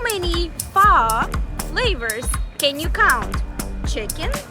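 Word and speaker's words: phở: l u t but the right way to pronounce it would be almost like with a question mark far however the Vietnamese people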